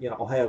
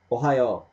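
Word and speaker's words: おはよう: You better like pronounce it really, faster than I'm saying now.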